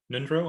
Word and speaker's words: Ngöndro: roughly yes yes yeah it's a little tricky sometimes because it has a silent g and an ng and so that kind of throws people off a little bit but yeah nindro